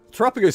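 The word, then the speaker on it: Terapagos: Like we have to go Verapagos or Tapagos depending on how you pronounce it. Trapagus is correct.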